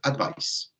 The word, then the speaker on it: advice: Por otro lado, el sustantivo, ¿cierto? Simplemente es con S, advice.